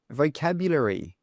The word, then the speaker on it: vocabulary: And let me show you one more example, vocabulary. Vocabulary. So the stress here is on the second sound.